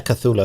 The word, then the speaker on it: Cthulhu: How do you pronounce this? Cthulhu. Oh yeah, Cthulhu.